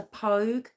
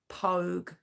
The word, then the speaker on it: Poage: Yeah, I've heard his name pronounced a couple of ways, but for the most part, I've seen it as Pogue. Although Pogue's not spelt that way or that, but we're going to say Pogue because that's how I've seen it pronounced.